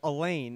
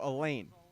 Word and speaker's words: Elaine: The foul will go against Will Elaine, and that is the correct pronunciation from Mr. Barry Bessler, a wonderful PA announcer in the Chapman Arena. So Elaine.